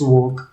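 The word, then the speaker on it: walk: तो ब्रिटिश में जैसे CHL की चाक है, इसको चाक पढ़ लिया, आई कैन चोक, ठीक है, या TALL टाल नहीं, इट्स टोल, या WL के वॉक इट्स वॉक.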